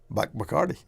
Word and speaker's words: Bacardi: the favored ones, and that's the Cayman pronunciation for Bacardi. Okay. Bacardi. You look at it, you look at the spelling, and phonetically, you know, it's a Cayman. That's how Cayman pronounced it from phonetically.